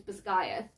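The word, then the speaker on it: Basgiath: Zaden Violet and the name of the war College shockingly which is bayth those three I was pronouncing correctly and the rest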